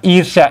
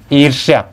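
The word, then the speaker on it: ईर्ष्या: है ना और यहां ईशा ईशा यह आपका गलत है इससे होता है इर्ष्या इस तरह से होता है एक सामान्य आप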